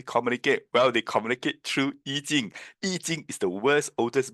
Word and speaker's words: Yijing: Yijing is spelled this way, Y-I-J-I-N-G. And it is using Hanyu Pinyin. The old way is called Aiching or Yijing, and some will even call it Book of Changes.